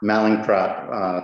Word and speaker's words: Mallinckrodt: He was poached and moved to Harvard in 1998, where he's now the I have no idea properly how to pronounce this. Mallinckrodt. Mallinckrodt, thank you.